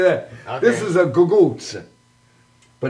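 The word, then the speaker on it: cucuzza: This is a gugutz, but it's spelled C-U-Z-Z C-U-C-C.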